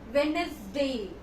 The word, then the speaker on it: Wednesday: say it is executive it is the correct pronunciation is adjectives executive X Detective next we come to the days of the week Wednesday Wednesday it is Wednesday the deal here will